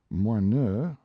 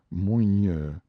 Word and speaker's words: Moineux: Moineux sparrow was mispronounced moigneux, after the manner of a street Arab.